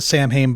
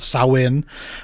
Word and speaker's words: Samhain: But the Celtic festival, we sometimes pronounce it Samhain, but I think it's traditionally called Samhain.